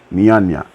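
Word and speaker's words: Njanja: I think they don't pronounce the J, right? Nyanya.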